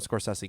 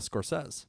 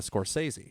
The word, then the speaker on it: Scorsese: explaining the Scorsese pronunciation the thing that trips me up is the fact that I always call him the score says so I want to go to Scorsese but we'll drop the